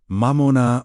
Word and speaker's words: Mamona: The word for today's journey is Mamona, pronounced Mamona, meaning wealth, material resources, or whatever becomes the object of one's deepest trust.